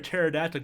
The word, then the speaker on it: pterodactyl: can't you hear a pterodactyl go to the bathroom because the P is silent I told my son